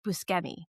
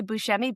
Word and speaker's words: Buscemi: Was also good friends with Steve Buscemi. I want to make sure I say his name right. I always want to say Buscemi, but he himself is like, it's Buscemi. And I believe he would know.